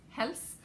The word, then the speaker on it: Hels: Okay, so I knit the I don't know how they're going to pronounce this, but in Danish, it's pronounced Hels cowl.